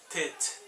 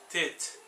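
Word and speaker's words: ט: O tet ele pronuncia como se fosse um DT, tet, tet, ok?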